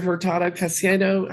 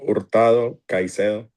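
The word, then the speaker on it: Hurtado Caicedo: And then, uh, Mr. Herado Casedo, am I butchering your name? How do you say it? Uh, Ortado Kaisedo.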